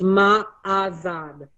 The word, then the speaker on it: Ma'azad: It's Ma'azad, okay? That's the mantra. You meditate and you go, it's MA-AH-ZOD. MA-AH-ZOD. So when you're meditating, it's Ma'azad, Ma'azad.